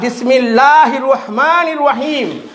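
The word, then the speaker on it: بسم الله الرحمن الرحيم: আর বিসমিল্লাহির রহমানির রহিম বিসমিল্লাহ ডবল লাম, এখানে ডবল লাম, হির রহমা ডবল র হয়ে গেল, নির রহিম আরেকবার ডবল র হয়ে গেল।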